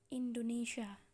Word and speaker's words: Indonesia: Take example. Indonesia. The phonetic is like this. Indonesia has 5 syllables.